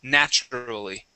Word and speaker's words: naturally: which is nature okay Nature has a long a nay okay but uh when we change this adding uh natural okay that L at the end that becomes an a sound now okay so this is naturally okay naturally good